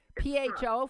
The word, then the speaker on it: pho: you have something called, well, I've always said pho, P-H-O. Oh, I do know this. Yeah? P-H-O, pho? It's pho. Pho, but it's pronounced it's pho.